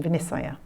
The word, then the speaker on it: Vinicchaya: or providing a judgment, a vinichaya, or in the Burmese pronunciation, vinisaya.